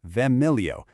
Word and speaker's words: vermelho: That's pronounced vermelho, and yep, it means red.